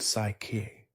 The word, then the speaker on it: ψυχή: The Greek word for soul is psychi pronounced psyche.